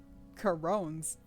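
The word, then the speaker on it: Charon: Why do they Why do they spell it like that when it's pronounced Karon?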